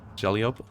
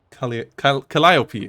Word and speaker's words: Calliope: Jelliop? Don't know. I don't think it's the last one. Calliope, right. Calliope.